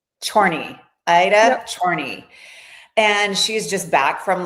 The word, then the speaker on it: Chorney: Will you pronounce it for me? Chryney. Chry. Ida. Chryney.